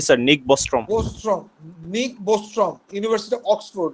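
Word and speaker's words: Nick Bostrom: এটা বলতে কি, এটাকে নিক হবে না, উচ্চারণটা কি হবে? জি স্যার, নিক বস্ট্রম।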